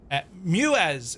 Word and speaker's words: Muez: Muez is how you pronounce it. So, Muez, planes.